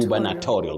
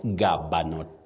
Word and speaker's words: gubernatorial: Gubernatorial. That is when we talking about, you know, a post that is connected with being a governor and all that. So, you say gubanatorial, not gabo.